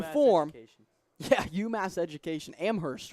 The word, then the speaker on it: Amherst: Amherst, right? Amherst. It's pronounced Amherst. My professor, Greeley Kyle, shout out Greeley if you're listening. He pounded it into my head. It is not Amherst. It's Amherst.